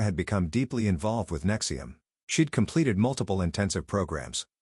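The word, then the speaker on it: NXIVM: When a friend told her about a professional development organization called Nexium, pronounced Nexium, that promised to help people reach their full potential, Sarah was intrigued.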